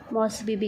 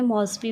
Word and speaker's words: Mosby: Next आपने क्या करनी है, मॉसबीबी कर सकते हो आप, ठीक है।